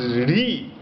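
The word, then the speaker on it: hrīḥ: syllable hrih this is re if you pronounce it h r i h is pronounced as re so in late dhana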